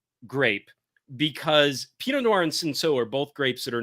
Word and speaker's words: Cinsault: a grape called Cinsault, which is spelled Cinsoult, but, you know, kind of a silent T. So Cinsault. And these two, this is a fascinating grape because Pinot Noir and Cinsault are both grapes that